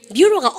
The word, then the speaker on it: bureau: 얼마나 B-U-R-E-A-U 발음 갖다 합시다. bureau 뷰로가 오피스입니다.